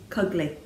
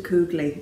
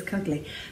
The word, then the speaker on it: Cugley: Cugley to rhyme with ugly. A lot of people call him Mr. Coogley and things like that. It's wrong. That's not what it is. It's Cugley. So he gets called Cuggers.